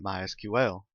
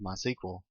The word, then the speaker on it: MySQL: as you can tell i've been calling it mysql that is the correct pronunciation however it is also commonly called mysql if you hear it called that don't be